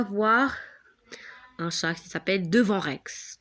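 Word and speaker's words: Devon Rex: Donc, on va voir un chat qui s'appelle Devant Rex. Devant Rex. Ça s'écrit avec D-E-V-O-N-R-E-X. C'est pas devant, ça veut dire devant nous, non.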